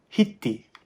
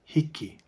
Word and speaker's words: hiki: k and an i the middle k is sometimes pronounced as a t so it's very common to hear kupuna and maui say hiti instead of hiki maui's dialect also has